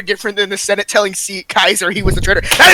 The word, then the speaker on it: Caesar: This is like when the Senate told Kaiser he was a traitor.